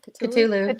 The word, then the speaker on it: Cthulhu: That's very Cthulhu. Or Yeah, I was however just you say thinking it. that. Wait, that's not how you say it, is it? Cthulhu.